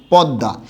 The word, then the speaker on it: পদ্মা: পদ্মা। তাহলে এই শব্দটার উচ্চারণটা কি হবে? উচ্চারণটা হবে এরকম, প দ দ আকার, আর এখানে হচ্ছে চন্দ্রবিন্দু।